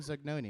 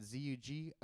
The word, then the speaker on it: Zugnoni: And I said, Zugnoni.